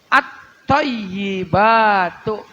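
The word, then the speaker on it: الطيبات: thi Wal Yai dan tasdid pada lafaz at thayibatu itu ada dua yaitu huruf di atas huruf tho dan di huruf ya at thayi at thayyibatu ynya ada tasdid th thya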